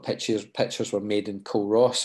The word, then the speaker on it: Culross: pictures were made in col ross or kuros i think is how it's pronounced which is quite tidal